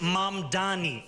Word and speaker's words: Mamdani: Furthermore, the name is Mam Dani.